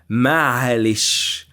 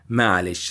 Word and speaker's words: معلش: With time, the Arabic or the phrase ما عليه شيء was very difficult for Egyptians to pronounce. So they tried to make it shorter. Okay, and ما عليه شيء, with the time it became malish.